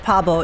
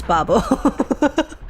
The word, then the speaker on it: Babo: I I just said Pabo. It's Babo. I pronounce it Pabo in my head.